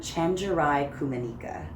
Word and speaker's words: Chenjerai Kumanyika: How do you say it name? Chenjerai Kumanyika.